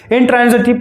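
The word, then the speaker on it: intransitive: हम लोग तो इसे ट्रांसिटिव पढ़ते थे इसको काफ़ी दिन तक, हालांकि अच्छे से जान भी गए कि ट्रांजिटिव, इंट्रांजिटिव यही बोलता हूं मैं, आप ट्रांसिटिव भी बोल सकते हैं, कोई दिक्कत नहीं है।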